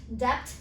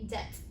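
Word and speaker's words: debt: this one as well most of the people say it depth but b remains silent here so you should be saying death so yeah this one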